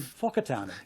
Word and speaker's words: Whakatane: And then they're told to pronounce words like Wakatani with an F sound. It's called in Whakatane.